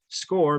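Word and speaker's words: Scoir: are getting familiar with score and that's spelled s-c-o-i-r score because that's the platform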